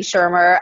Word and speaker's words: Shermer: academic name, Shermer. And by the way, everyone gets the pronunciation wrong. It's spelled funny. There's no C. There's no I. It confuses folks.